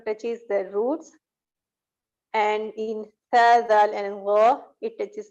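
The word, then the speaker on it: ث: Tha, that's pronounced only upper 2 front teeth. Okay. Tha, and you will notice that there is no whistling sound. Mostly people do mistake while pronouncing these letters, that they add the whistling sound in these letters.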